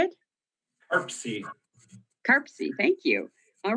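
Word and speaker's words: CARPC: this is how do they say it arpsie karpsy thank you all right so we all love our acronyms so mpo and karpsy thank you so this this will be a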